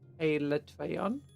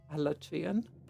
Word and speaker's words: Alatreon: It's like the Alatorian, officially it's pronounced as Alatreon, except you've had a decade plus but pronounce it as Alatrian, and Capcom will never change it.